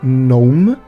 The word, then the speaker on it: Nome: Eu me lembro que o filme se passava numa cidade de interior chamada Nome. Eles falavam Nome, mas se escreve nome mesmo.